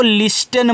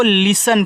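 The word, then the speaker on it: listen: मतलब होता है जाना एल आई एस टी इ एन तो इसको लिस्टन मत पढ़िएगा इसको लिसन पढ़ते हैं।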